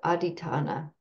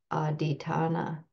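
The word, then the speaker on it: adhiṭṭhāna: the poly language this uh quality is called aitana so for those that like to reference these poly words I'll just spell it um and I'll put it in the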